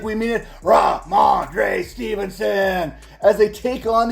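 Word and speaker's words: Rhamondre: and let's say it like we mean it ra mandre Stevenson as they take on the Arizona Cardinal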